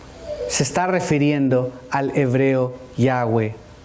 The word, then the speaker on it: Yahweh: judíos no pronunciaban, pero los estudiosos creen que es muy probable que la pronunciación sea Yahweh. ¿Por qué la diferencia de Yahweh yahé? Porque los judíos sefardíes que se radicaron en España pronunciaban la W como V. Así que algunos dicen Yahé o Yahweeh.